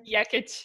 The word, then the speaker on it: Jekic: How do you say the last name? Jekic, yeah.